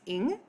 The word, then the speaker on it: Ng: wrong i apologize um her name is celeste ing so if you were saying the word sing just drop off the s and the i that's how you pronounce her last name um and we are